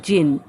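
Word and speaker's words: djinn: Presently there came along the जिन, it's pronounce as जिन, जिनको जेनी और दूसरे word से भी आप लोगों ने पढ़े होंगे दूसरे स्टोरीज़ में, लेकिन इसको जिन इस स्टोरी में बोला गया और डी इसमें साइलेंट है, तो इसको आप कैसे पढ़ेंगे, जिन।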